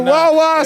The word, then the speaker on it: Wawa: Listen, the Wawa, it rhymes with the nah.